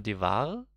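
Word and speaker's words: Dewar: Da jetzt nochmal Devare? Da kommt halt überhaupt nicht. Der. Der. Genau, so spricht man es aus.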